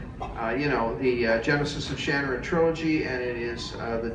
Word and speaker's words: Shannara: I say Shannara.